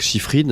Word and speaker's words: Schiffrin: des contraires, de Jacques Chiffrine, on prononce comme Lalo, mais c'est un peu la famille, je crois, à savoir, le grand musicien.